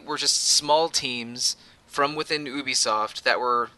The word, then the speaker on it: Ubisoft: gonna try to say Ubisoft it's ubiquitous software so okay oh so it